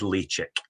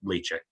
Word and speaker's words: Ledaig: So I am told that the right way to pronounce it is Ledaig. So, in the wee kind of mnemonic that goes with that is kind of chicks lay eggs, if you like, Ledaig.